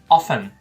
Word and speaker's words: often: Eu falo inglês americano, eu digo often. E até mesmo em algumas regiões dos Estados Unidos a pessoa também, às vezes, eles pronunciam o T, often. Então, ambas as pronúncias estão corretas.